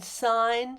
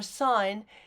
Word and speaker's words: sign: the g is pronounced in sine signs signer design and assign the g is not pronounced in s-i-g-n or sine the g is a